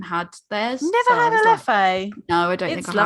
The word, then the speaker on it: Leffe: All they had was the Lef. That was the blonde. Is that how you say it? Leffe. I just assumed the second E was silent. Not apparently.